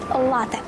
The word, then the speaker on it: лате: до нас з Італії лате дослівний переклад кава з молоком вимовляємо з наголо на перший склад і пишемо без подовження на відміну від першого